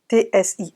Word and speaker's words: tsia: non c'est pareil : ça s'écrit "TSIA" et ça se prononce "Tsi".